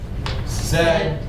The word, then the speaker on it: said: what's this word REM it rhymes with red said B said okay except if it's someone's name if it's your name how would you pronounce this but when we use this as a verb he said go to bed it's said sounds like this said um something else here